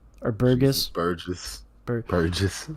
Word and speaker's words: Burgess: was won by Jesus Burgers or Burgess. Burgess. Burgess. Yeah, I say it wrong because I have dyslexia, and in my head it always looks like burgers whenever I try to read it.